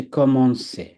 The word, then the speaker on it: commencer: এটার উচ্চারণ হচ্ছে কমন্সে।